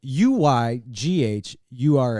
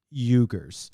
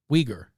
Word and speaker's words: Uyghur: checked this yes um it is pronounced it is spelled u y g h u r s now i thought it was pronounced eugers and once one would think it's huger but apparently it's pronounced uyghur uighur the uyghur muslims are being put in camps